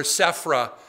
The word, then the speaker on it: Zipporah: was her name yeah or safra depending on your pronunciation skills yeah that's the same name zipporah and safra yeah no